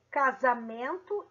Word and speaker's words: casamento: três palavras aqui zebra casamento e exílio zebra tem som de z agora casamento tem som de s não casamento tem som de z então a letra s é representada pelo fonema z exílio